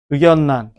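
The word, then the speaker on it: 의견란: 삼음절 한자어 한 11개 정도가 의견난 공권력 결단력 이게 유마가 일어나면 의결란 생살량 이래야 된다고 임진난 임진란 이래야 된다고 안 되지 이거 그래서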